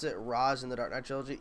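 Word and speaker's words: Ra's: How do you prefer to pronounce Ray Shuggle's name? Ray Shuggle or Roz?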